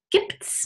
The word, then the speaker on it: gibt's: And there we often use contractions and we say, gibt's noch Brot? Gibt es noch Brot becomes gibt es noch Brot? Or gibt's noch Brot?